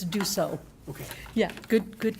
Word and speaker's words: Dussault: Descalt? Even close? Yeah, you're close. Spell it for Jennifer, please. Actually, it's Dussault.